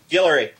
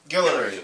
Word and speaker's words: Guillory: And how do you pronounce his last name? Guillory. Guillory. Okay.